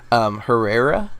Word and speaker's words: Herrera: able to pronounce this, Herrera from... Herrera? Her with the H. So not Ferreira. Yeah, I said Herrera.